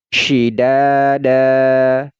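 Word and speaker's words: شدادا: panjangnya adalah dua harakat jadi ini tidak dibaca dan nah ini ini tidak dibaca dan tetapi dibaca da dan dipanjangkan dua harakat syidada syidada kemudian di sini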